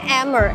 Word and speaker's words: Amer: past Oh, Amber Fort It was originally called Amer Amer is actually not amber Amer means 'Sky' But it may have been mispronounced Eventually, it became Amber It turned into